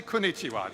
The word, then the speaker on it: Konnichiwa: it for a second it's four syllables so just say it to the person next to you say Konnichiwa just get in practice